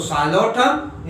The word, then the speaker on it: Psilotum: सो नाम यहां से स्टार्ट होगा, नेम द साइलोप्सिडा, तो यहाँ पे टी है सो मेसेप्टेरिस, और पी साइलेंट है सो साइलोटम, यहाँ पे साइलोफाइटन, अरीनिया एंड कॉक्सोनिया।